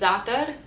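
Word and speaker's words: زعتر: know what zatar is we say it's atar it's basically herbs we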